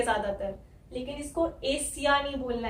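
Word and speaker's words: Asia: ये आई ए जो है यहाँ पे या आ रहा है, य, यहाँ पे वाई लेटर कहीं नहीं है, लेकिन इसको हमें बोलना है एशिया है। हल्की सी य साउंड आती है जब हम एंड में बोलते हैं एशिया, या, है ना। तो इसलिए कंफ्यूजन होती है लोगों को। यहाँ पे वाई कहीं लिखा नहीं है, लेकिन वाई की साउंड आ रही है एंड में, है ना।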